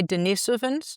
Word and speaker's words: Denisovans: You say Denisovans? I never know how you pronounce I think it.